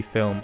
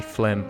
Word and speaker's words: Flim: that I always mispronounce it looks like it should be filmed just in my defense here I was gonna say film but it's actually Flint so I'm just gonna